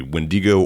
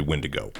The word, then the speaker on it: Wendigo: And then we've got the wrath of Wendigo. Am I saying that right? Wendiggo. You can pronounce it one or two ways. It's a Native American word. So, it can be Wendigo or it can be Wendigo.